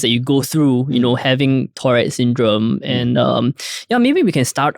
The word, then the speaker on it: Tourette syndrome: Am I pronouncing it right? Tourette Syndrome is correct.